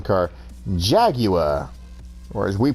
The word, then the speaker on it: Jaguar: this same thing with the Formula 1 car Jagua or as we pronounce it Jaguar lot of cool cars here too especially the